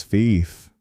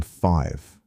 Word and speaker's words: five: The word once said as fief became five.